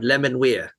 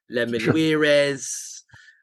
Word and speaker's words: Les Menuires: And talking about pronunciation, I'm pretty sure Les Menuires is the correct pronunciation. I do hear it being called many different things. Les Menuires, it's definitely not that. Les Menuires. I mean, that could be quite nice, but it's a bit Spanish, isn't it? Les Menuires. Les Menuires is how I pronounce it, and I think that's right.